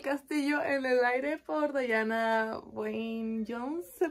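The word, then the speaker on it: Diana Wynne Jones: libro es el castillo en el aire por Dayana Wayne Jones se pronuncia así también es algo que Quiero leer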